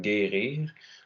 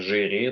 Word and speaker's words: guérir: Même chose après un G, comme guérir. Donc, si on ne mettait pas le U pour durcir le G, il faudrait dire gérir.